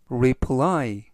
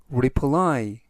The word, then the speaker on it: reply: 뜻이 되겠고요 전체적 의미는 을 읽어보자는 뜻이 되겠습니다 reply reply reply라고 발음하시면 되겠고요 이때 강세는 끝부분에 있는 알파벳의 강세가